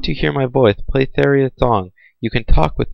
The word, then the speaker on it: Saria: I say Saria, so anyone who pronounces it different is clearly wrong.